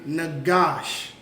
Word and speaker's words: Nagash: So we have the Na, it's pronounced independently. And we have the Ga and the Sha, which is connected, which becomes Gosh.